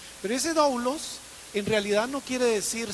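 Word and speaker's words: δοῦλος: es una palabra que en griego se dice doulos, o alguna cosa así se pronuncia. Pero ese doulos en realidad no quiere decir siervo, sino que la traducción correcta debería ser esclavo.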